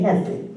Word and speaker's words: Hesed: It's called Hesed. Everybody say Hesed. Hesed. It's spelled H-E-S-E-D in the Hebrew.